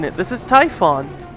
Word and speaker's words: Typhon: try again oh yeah it is I was mispronouncing it this is Typhon I was just mispronouncing it as typhoon even though it is pronounced Tython Typhon is